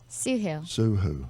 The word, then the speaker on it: Soohoo: so my guest is suu suu my name rhymes with Cindy luhu did you get uh